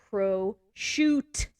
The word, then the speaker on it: prosciutto: don't pronounce things correctly like prosciutto it's Pro shoot oh prosciutto or people